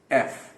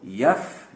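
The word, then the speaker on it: F: یہ پھر سے اے کی طرح, ای کی طرح شارپ ساؤنڈ سے شروع ہوگا. ایف. کسی بھی صورت آپ اس کو یف نہ کہیں. یف غلط ہے, یہ یف نہیں ہے.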